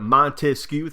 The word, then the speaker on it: Montesquieu: Montesquieu, 3 syllables. That's how many branches he wanted.